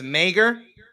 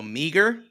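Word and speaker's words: Meagher: by Matt Meer or it's m e a g h e r yeah Mir no way there's too many letters just so you know there's there's people by us yeah same exact last name pronounce May Mir Mir Mir they were on crack when they decided to pronounce that one 100% yeah right so it's Meer they're like no so meager no try again Mir Bingo that doesn't make any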